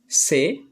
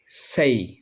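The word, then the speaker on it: say: আচ্ছা, 3 নম্বরটা আমরা দেখি, এটা আগে আমরা বলতাম সে, এটা এখন আমরা সঠিকভাবে উচ্চারণ করব সেই, সেই, সেই।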